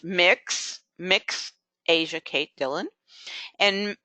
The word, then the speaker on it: Mx: Dillon has an honorarium MX pronounced mix mix Asia Kate Dillon